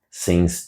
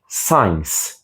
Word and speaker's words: since: Since não é science. Science, como muita gente pronuncia, é como se fosse ciência. Science tem aquele som mais aberto e mais longo. Since é mais curto.